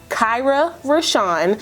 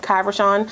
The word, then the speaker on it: Kyra RaShon: So my name is Kyra RaShon. A lot of you guys get that wrong, which is weird to me because I literally say my name every video, Kai RaShon, but okay.